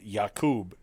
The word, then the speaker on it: Yakub: essentially oh okay it's not spelled like jacob it's spelled yakub y-a-k-a-k-u-b that is why i was confused because